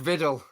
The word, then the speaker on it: Vidal: It rhymes with Biddle. Mark Viddle. Correct.